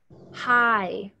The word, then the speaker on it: high: High. I know it's a really weird word. The G is silent.